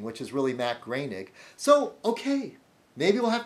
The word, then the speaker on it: Groening: There's Matt Groening, which is really Matt Groening.